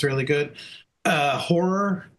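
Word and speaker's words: HO99O9: Uh horror, you know, spelled with the nines. HO9909.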